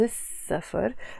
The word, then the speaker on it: السفر: them, which means the, we don't pronounce the L that is there.